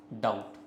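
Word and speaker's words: doubt: word क्या है आपका डाउट ठीक है एक वर्ड क्या है आपका डाउट है ठीक है तो डाउट वर्ड है आपका साथ ही साथ क्या है तो ये बी यहां पे साइलेंट होता है नॉलेज नॉलेज में के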